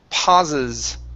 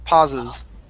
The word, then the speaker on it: pauses: to uh the word pauses Okay add that S at the end instead of pause pauses pauses okay very good um